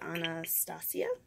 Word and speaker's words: Anastasia: This is Anastasia.